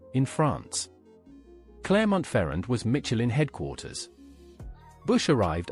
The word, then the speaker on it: Clermont-Ferrand: He traveled to Clermont-Ferrand, pronounced Clermont-Ferrand, in France. Clermont-Ferrand was Michelin headquarters.